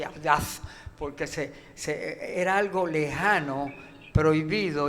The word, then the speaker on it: audaz: Y pronunciaba la Z, así, audaz, porque era algo lejano, prohibido, imposible.